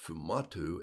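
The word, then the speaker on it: sfumato: m a t o um uh but it's pronounced fumatu s-f-u-m-a-t-o and it's a blending of colors and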